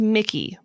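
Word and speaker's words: Micajah: michael like mikey well it's pronounced mickey but it's spelled m-i-c-a-j-a-h ew what everything's wrong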